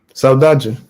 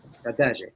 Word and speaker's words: saudade: Who can pronounce it? Saudade. Saudade.